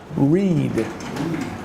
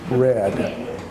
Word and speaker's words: read: tense looks the same the spelling is the same but we pronounce it differently so we pronounce the present tense Reed we pronounce the past tense red so right now we